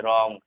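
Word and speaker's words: wrong: डब्ल्यू देखो, डब्ल्यू के just बाद अगर आर होता है तो डब्ल्यू साइलेंट हो जाता है। जैसे यहाँ पर डब्ल्यू के बाद जस्ट हम आर अगर देखेंगे तो डब्ल्यू साइलेंट, जैसे रॉन्ग, wrist, sorry रॉन्ग, right, wrist, wrinkle, ठीक है।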